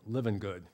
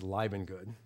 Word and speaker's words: Livengood: And so Dan Livengood, I like to pronounce his name Livengood, but he always corrects me, it's Livengood.